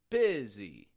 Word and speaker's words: busy: youu in bsy that U isn't sounding like an uh I'm not saying busy busy but I'm making the U into an i sound I busy what we call a short I or a LAX eye B and then the